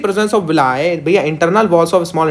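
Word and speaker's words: villi: कुछ लोग इसको विल्ली प्रोनाउंस करते हैं, लेकिन ये विलाय है आपका।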